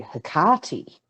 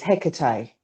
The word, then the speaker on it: Hecate: So yeah, Heka was Egyptian, and in Greco-Roman mythology, Hecate, who is commonly referred to as Hecate in most of the English and American circles, but to me, she's Hecate. She's Greek. It's Hecate.